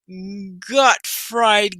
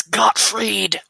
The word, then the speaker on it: Gottfried: Pretty sure that's Gottfried. Oh, Gottfried Gaming. Okay. Gottfried Gaming. Well, sizzle. It's spelled as Gottfried. No, it's Gottfried because I think German language.